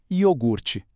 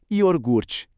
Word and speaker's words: iogurte: O correto é iogurte. O incorreto? Iorgute. É uma daquelas trocas de sílabas que passam batidas na pressa da rotina, um deslize natural da língua, uma verdadeira dança das cadeiras com as letras, mas que no fim